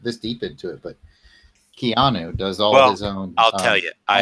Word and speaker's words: Keanu: It's pronounced Keanu. Like piano? Yes.